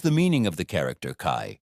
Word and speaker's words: 开: What is the meaning of the character Kai? Pronounced Kai.